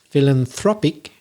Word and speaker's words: philanthropic: to pronounce philanthropic oh i noticed a stress change there on one of the syllables philanthropist so it's in the second syllable when it's a noun philanthropist but it's philanthropic it's on the third syllable when it's the adjective and there's also the